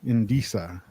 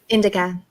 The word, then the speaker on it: indica: Indisa. I don't know how to pronounce that one. Indica. Indica. Thank you. But that's not my preference. That's just how you pronounce it.